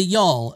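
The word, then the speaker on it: Gjall: when I called them gal apparently it's pronounced y'all you can hear the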